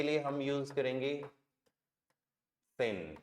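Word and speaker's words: zehn: 10 के लिए हम यूज करेंगे सेन, जेड का साउंड से, ई का ए, एच साइलेंट और नेट, सेन।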